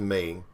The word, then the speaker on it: Me: seems pretty accurate to me windows enemies called windows millennium edition marketed with the pronunciation of the pronoun me but commonly pronounced as an initialism and me is a